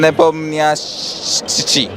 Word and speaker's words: Nepomniachtchi: Ian Neponymi Itachi. Okay. Ian Nepomniachtchi.